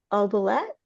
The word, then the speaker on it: oubliette: Sarah's finally dropped into the dark oubliette. In the castle, Jareth looks into the crystal and sees Sarah is in the oubliette. Am I saying that right? I don't know. She's in the oubliette.